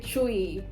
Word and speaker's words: Twi: then there's there are different languages like the tree by the way why is it called tree and not twice because it's spelt twi why is it chewy if you watch this video so far i